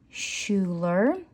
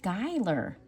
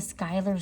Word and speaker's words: Schuyler: It's actually probably pronounced Skylar. Because in the musical, I'm so sorry, apologize my ignorance, because they call them the Schuyler sisters.